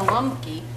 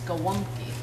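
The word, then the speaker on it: gołąbki: wonky the lumpy oh the l in polish on gowonky is has a little line through it and that signifies the pronunciation of a w sound so it's not glumky it's gawonky gowonky oh that's me i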